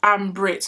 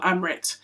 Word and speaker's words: Ambrit: It's Ambrit, not Amrit.